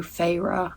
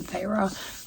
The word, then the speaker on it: Feyre: And I think also because I took a break, characters, like obviously I know Feyre, I think that's how you say her name, Feyre.